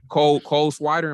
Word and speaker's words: Cole Swider: Cole Swider. Am I saying it right? Cole Swider. Yeah, Cole Swider.